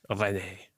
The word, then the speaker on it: Rennais: Anyone of a certain age who grew up watching Hello knows it should be pronounced Rennais.